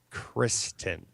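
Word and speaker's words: Cristin: s t i n Kristen like Tristan but Kristen I've I've seen her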